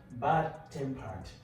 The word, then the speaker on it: bad-tempered: For example, you have bad-tempered.